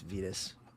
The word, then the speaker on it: Vitas: uh Venus I always I pronounce it Vitus but they've already they've confirmed it's they've confirmed it's uh it's Vitas yeah us either way